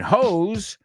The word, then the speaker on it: hose: And hose rhymes with clothes, doze, O's, OS, right?